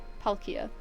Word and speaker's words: Palkia: Thank you, Z, for the pronunciation correction. Palkia.